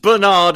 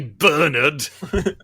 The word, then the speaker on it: Bernard: Bernard and Bianca, not Bernard as the Americans call him, because we say Bernard, George Bernard Shaw.